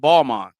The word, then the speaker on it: Balmain: Just like we all know what Balmain is, but it's actually pronounced Balmain. Yeah.